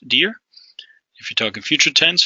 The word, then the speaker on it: dir: stem of this here which is dir pronounced dear if you're talking future